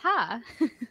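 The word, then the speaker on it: ห้า: It's pronounced ha.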